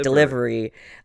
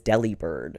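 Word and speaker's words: Delibird: was something like yeah it's supposed to be like delivery uh but people kept thinking it was Delhi Bird yeah it's delivered yeah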